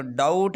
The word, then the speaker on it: doubt: या इसी तरह पर डाउट है, DOUBT, डाउट, डाउट शक को कहते हैं।